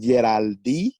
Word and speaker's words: Yeraldy: me you can find me on my page, Geraldine Media, and I'm What is it on, again? Can you say it a little slower? it's called Geraldine Media. How do you spell it?